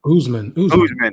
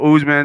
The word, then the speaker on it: Usman: you and and and i want to say usement but it's not oozman oozeman right so usman and then we got uh